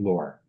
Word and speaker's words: Loehr: I said I always say you pronounce it like because that seems to be on brand, right?